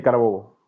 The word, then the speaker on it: Carabobo: Está está lo pronuncié bien. Sí, sí, Carabobo.